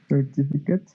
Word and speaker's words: certificate: Acabo de decir, cuando no es verbo, se pronuncia it. Entonces, ¿cómo suena esta palabra? Certificate. Certificate. Certificate. It's not Kate.